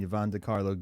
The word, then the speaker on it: Yvonne De Carlo: Grandpa, Fred Gwynne, More Than a Munster, and Yvonne DiCarlo, Gilded Lily. which uh we've been saying her name wrong.